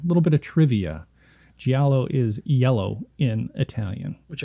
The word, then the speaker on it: Giallo: up, but I didn't look at how to pronounce it. They referred to it as a Giallo. It's Giallo, yeah.